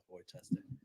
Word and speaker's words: Worcester: __ ] wish wish Worcester Worcester but it's spelled like Woodchester yeah Wester you bastard um good day